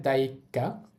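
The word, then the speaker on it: だいいっか: এরপরে আবার একটা ই আছে দেখেন এখানে দুইটা ই থাকার কারণে দ্বিতীয় ইটা উচ্চারণ হবে না প্রথম ইটা আমরা একটু টেনে বলব তাহলেই হবে তারপরে ছোট সু আছে এটা বাদ যাবে আমরা জানি ছোট সু থাকলে পরের বর্ণের উচ্চারণ ডাবল হয় তাহলে পরের বর্ণ কা আছে ওটা কয় আকার হবে উচ্চারণ হবে দায়কা দায়কা অর্থ হচ্ছে অধ্যায়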